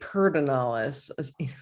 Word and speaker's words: Pedernales: And then probably pedernales, or as they say, perdonalis. Oh, is that really? I've been saying it wrong this whole time. I know, so have I. And so apparently there's no R in there though. This is what I hate about Texas. Yeah. And you and I being from the Midwest, we don't get this. It's like we don't add R's.